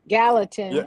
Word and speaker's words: Gallatin: The Gatlin Gatalin pronounces Gallatin.